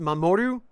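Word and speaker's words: 守: uh this is the kanji for protection it's pronounced mamoru at least the Japanese pronunciations are oh and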